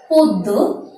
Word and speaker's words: পদ্য: আমরা অনেকেই উচ্চারণ করে থাকি পদ্য, আবৃত্তি, আবার বলে থাকি শঙ্খ। শব্দগুলোকে ঠিকভাবে যেমন উচ্চারণ হবে তেমন করে নির্ণয় করে দেখানোটি হচ্ছে উচ্চারণ নির্ণয়। যেমন পদ্য, আবৃত্তি, শঙ্খ। বন্ধুরা, উচ্চারণগুলো যদি আমরা একটু খেয়াল করি, আমরা দেখব পয়ের সাথে এখানে একটি ওকার এসেছে, আবার মাঝের দয়ের সাথে একটি হর্ষ চিহ্ন বসেছে এবং পরের দয়ের সাথে আবার একটি ওকার বসেছে।